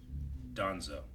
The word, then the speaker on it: Danzo: So I say it like D-O, but it's spelled D-A? Yeah. Okay. Donzo.